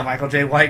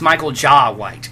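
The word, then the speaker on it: Michael Jai White: Michael J. White needs to play. I know who Michael J. White is. Oh, yeah, he was Spawn. Apparently we're saying his name wrong, though. Apparently it's Michael Ja White.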